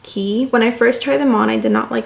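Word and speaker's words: Quay: Australian friend they spell it like waived it's pronounced key when I first tried them on I did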